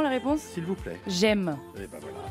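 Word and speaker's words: Gemme: J'aime. Eh ben voilà. Mais ça ne s'écrit pas comme j'aime. G-E-2-M-E.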